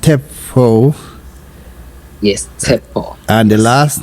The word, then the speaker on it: Tshepo: O for octopus so and the first name pronounced Teo yeso and the last name now spell your